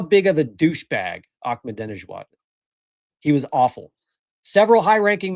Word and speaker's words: Ahmadinejad: He taught me how to say Ahmadinejad. Did you guys know that's how it's pronounced pronounced?